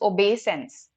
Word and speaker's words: obeisance: It's pronounced also like this, obeisance, right? So obey, it has an EI sound to it.